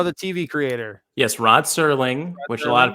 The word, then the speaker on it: Serling: It's not Rod Sterling, it's Serling.